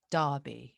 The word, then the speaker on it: Derby: as in a r darby it's not derby but you inclined to say derby wouldn't wouldn't you because that's how it's spelt so it's da like daddy exactly exactly it's strange